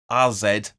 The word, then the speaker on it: AZ: welcome AZ Al Kumar or as they're pronounced RZ or their full name